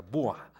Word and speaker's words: Boers: los comerciantes los boa los escribe boers y se pronuncia bua a estos dos les